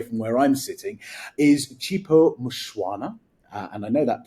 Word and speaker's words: Chipo Mushwana: too far away from where I'm sitting is chipo mushwana and I know that pronunciation is correct because I asked it before